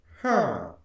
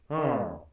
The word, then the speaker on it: Herng: So if this is a high tone, it would be Herng. Herng. Herng.